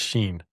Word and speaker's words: Shein: Did she get it off of Shein? No. And Sure? I'm pretty sure it's not pronounced Shein. Pretty sure it's Sheen. It's Shein. Like she is in style.